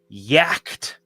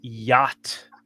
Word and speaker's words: yacht: just spelled it out sounded out the way it's spelled and I said yak. And the teacher was like what? And somebody next to me said that's yacht.